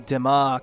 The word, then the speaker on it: DeMock: Emily DeMock. Did you see the note of the pronunciation yet about 23? No. That's how you said it.